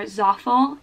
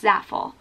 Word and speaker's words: Zaful: I think it's Zaful. So I'm going to attempt to say Zaful for the rest of the time I talk about this website. But if I'm saying it wrong, someone correct me, but I'm pretty sure it's Zaful.